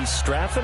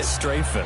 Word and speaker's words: Strafen: It was held in mid-December, and your winner, I.B. Straffen, or is it I.B. Strafen? You've got the pronunciation guy. I.B. Strafen. Strafen. My bad, Mr. Strafen.